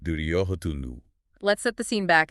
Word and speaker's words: Duryodhana: And right on cue, into the dark steps, the primary antagonist of the Mahabharata Duryodhana, pronounced Duryodhanu.